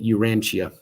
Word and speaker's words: Urantia: cool you ah okay thanks mud rabbit trying to help us uh pronounce it urantia okay oh i like